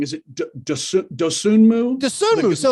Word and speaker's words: Dosunmu: Do you have what's your and I'm gonna pronounce it wrong? Is it Dosunmu? Dosunmu.